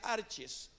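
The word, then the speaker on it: ἀρχαί: comienza con principado Y esa palabra pues del griego se pronuncia arches Qué quiere decir los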